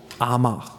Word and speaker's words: Amager: Now, a few years ago, the Danish radio, they moved to this island called Amager. You spell it A-M-A-G-E-R, but it's called just Amager.